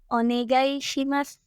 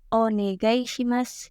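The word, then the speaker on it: お願いします: maknanya lalu yang terakhir onegaishimas onegaishimas disini tidak ada yang dibaca berbeda dari tulisannya ya huruf Sin masih dibaca si i-nya tidak disamarkan ya ingat-ingat ya Mana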